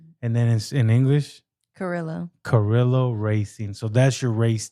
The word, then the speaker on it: Carrillo: Carrillo. Yeah, you got to roll the R's though. Carrillo. And then in English, Carrillo Racing.